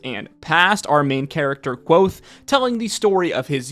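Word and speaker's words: Kvothe: telling the story of quo a Bard and archinist who became known in his youth as the infamous King killer yes I'm pretty sure it is pronounced quo even though uh this is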